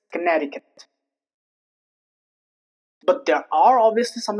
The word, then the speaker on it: Connecticut: Next is Connecticut. Connecticut. The C is not pronounced. There is no trace of C while pronouncing Connecticut. It's not connecticutant. It's Connecticut.